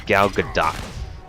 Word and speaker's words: Gal Gadot: go along um getting back to the movie gal gadot that's the way you pronounce name is not the albedo depend on matter what other people say it's quite like the spelling whatnot it's gal gadot um she she actually remains to be pretty